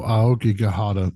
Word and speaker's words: Aokigahara: Aokigahara? Oh, Aokigahara, Sea of Trees.